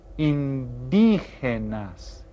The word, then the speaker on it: indígenas: They're called indígenas. And you see that has an accent there. That means we stress this syllable.